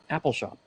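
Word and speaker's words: Appalshop: How do I pronounce that from your book, Joe? Apple Shop.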